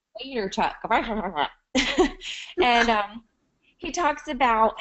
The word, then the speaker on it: Vaynerchuk: I never know how to say his last name. It's like Vaynerchuk. Vaynerchuk.